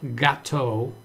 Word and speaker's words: gato: So, el gato or el gato. El is the word the. So, in the word cat, the first vowel would be GA, so the A would be the first vowel.